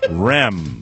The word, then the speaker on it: Rem: Rem. Yes. Like REM sleep?